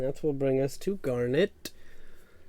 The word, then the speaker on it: Garnet: Alrighty, and that will bring us to Garnet. Rhymes with darn it.